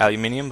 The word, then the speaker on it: aluminium: native aluminum or alumin yeah aluminum that's the American spelling in Australia we call it aluminium but we actually spell